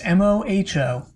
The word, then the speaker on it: Moho: of a correction i i spelled moho the lair of the earth as mojo yeah you know using the spanish sort of pronunciation of the letter j it's actually not it's m-o-h-o huh and it's short for like it's actually moho yeah it's sort of